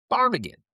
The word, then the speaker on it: ptarmigan: Parmigan. P T A R M I G A N. It's not really intuitive. Doesn't really roll off the tongue. But it's Welsh in origin. The P is silent.